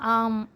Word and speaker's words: ஓம்: நமசிவாய இந்த வரிகள்ல பார்த்தீங்கன்னா ஓம் அதாவது ஆம் அப்படின்னு சொல்லுவாங்க இல்லையா அந்த எழுத்துக்களோட மீனிங்க தான் வந்து இந்த இதுல நம்ம பார்க்க போறோம் அதாவது பார்த்தீங்கன்னா ஆம் அப்படித்தான் சொல்லணும் ஓம்னு நம்ம சொல்றோம் இல்லையா அதை அப்படித்தான் உச்சரிப்பாங்க சோ அதுல வந்து ஆ